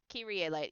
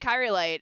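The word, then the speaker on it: Kyrielight: said her name and I've been pronouncing her last name wrong. Make sure that YouTube's muted. YouTube is not muted. Kirier light. Kiri light. Yeah. Yeah. Because I pronounce it kyite.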